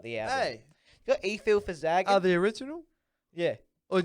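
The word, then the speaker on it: Efil4zaggin: E-Fil for Zaggin. There we go. That's it. E-Fil for Zaggin, man.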